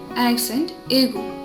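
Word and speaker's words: accent aigu: So first ആക്സെൻറ്റ് എന്താണെന്ന് വെച്ചിട്ടുണ്ടെങ്കിൽ ആക്സെൻറ്റ് എഗു. ആക്സെൻറ്റ് എഗു. Or acute accent is only used over the letter E. It is pronounced A as in hair.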